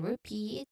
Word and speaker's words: repeat: Basically the stress is on repeat. The second syllable of repeat and the first syllable I second syllable also in excuse.